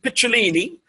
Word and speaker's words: Picciolini: And we are officially live on air with Christian Picciolini, which is the Italian pronunciation for his surname, or his last name, as you would say in the US.